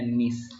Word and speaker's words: niche: Tulisannya niche, bacanya niche.